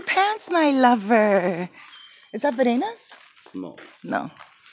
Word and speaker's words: Verena: Her name's Verena, or Verena. V-E-R-E-N-A. Verena. But Gino pronounces it Verena. I noticed that the R's sound like D's in Spanish.